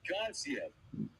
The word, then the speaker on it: Gassiev: Now, whenever you say Murat Gassiev, you have to pronounce it like Teddy Atlas, right? Murat Gassiev.